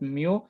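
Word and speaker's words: μ: It is pronounced at mu.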